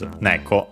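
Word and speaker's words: 猫: The actual name of cats in Japanese is neko, accent on the first syllable.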